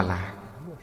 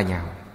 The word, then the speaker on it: nhạo: Ở đây chữ này không đọc là lạc, lạc là vui sướng, phải đọc là nhạo.